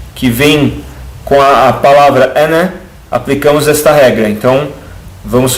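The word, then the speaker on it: أنا: Reparem que tem o alif, mas eu não pronuncio o alif, porque eu estou juntando.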